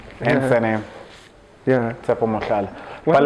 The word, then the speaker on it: Tshepo Mohlala: Tshepo Mohlala.